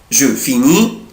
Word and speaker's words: finis: لاحظت ايه؟ je prononce pas، انا مش بنطق لا لتر اس ولا لتر تي، انا مش بنطق لا الاس ولا تي، يعني اي اس اي اس اي تي مش بنطق.